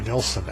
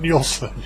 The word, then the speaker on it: Nilsson: It's Jumpin' the Fire by Harry Nilsson, and it's not Nielsen.